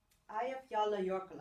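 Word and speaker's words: Eyjafjallajökull: Eyjafjalla Jökull, I pronounce it.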